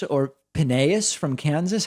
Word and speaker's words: Phineas: Is it Phineas or Phineas from Kansas? How do you pronounce that? Hi, David. It's Phineas.